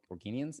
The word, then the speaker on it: Organians: Organians is how you say it.